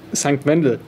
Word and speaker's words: St. Wendel: I am here at Hughes and Kettner HQ in St. Wendel. How do you pronounce it? St. Wendel.